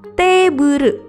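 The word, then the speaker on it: テーブル: Meja dalam bahasa Inggris adalah table. Dalam pelafalan bahasa Jepang adalah teburu.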